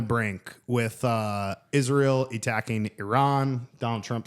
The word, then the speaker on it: Iran: for everyone at home, the correct uh pronunciation of the word Iran is Iran, not Iran.